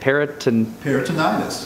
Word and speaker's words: peritonitis: Peritonitis. Peritonitis.